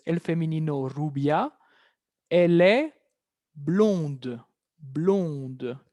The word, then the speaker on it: blonde: Elle est blonde. Blonde. ¿Escuchan cómo la D aparece en femenino? Il est blond, elle est blonde.